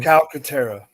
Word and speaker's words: Calcaterra: Can somebody pronounce this last name, Jordan? You got me. What is his name? Calcaterra.